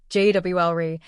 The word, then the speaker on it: jewelry: It's spelled with three or even four syllables jri. But in natural spoken American English, we almost always crush it down to two. The common natural pronunciation is jwl. Jwlri saying jewel sounds very unnatural and stilted. So if you're a three-cllable person, it's time to let one go.